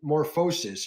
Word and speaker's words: Morphosis: I personally haven't had the chance to see Tyler Midas, but I know Morphosis, Seraph, wondering about Mofos. No, Morphosis. You're going to have me saying it wrong in a minute.